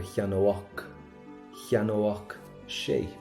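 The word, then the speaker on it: cheannódh sé: So we get an óach sound, but we're not done yet. You plural, ye would buy. That's the same ending. So we pronounce it the exact same.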